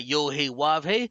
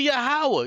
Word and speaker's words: Yahweh: Why you ain't cut this nigga off and said, no, it's not Yohei Wavhe, it's actually Yahweh, you stupid fucking country niggas.